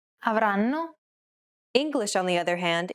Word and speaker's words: avranno: The first N is held for roughly the same amount of time as all the other syllables. Avranno.